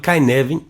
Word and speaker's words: Cynefin: cada vez mais notoriedade, que se escreve Cynefin, mas fala Cynefin, não é isso, Vinícius?